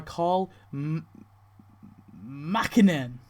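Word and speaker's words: Karl Makinen: He is played by Carl Mackinen.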